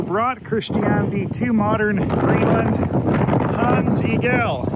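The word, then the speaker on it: Hans Egede: Christianity to Modern Greenland tons Eagle even though I've been pronouncing it Hans igeti for the past two days well it was a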